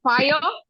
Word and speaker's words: fire: have any sound and fire e doesn't have any sound so we use the